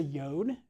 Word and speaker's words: yod: That's a yod up there, which is the smallest letter in the Hebrew alphabet. Makes a Y sound, actually.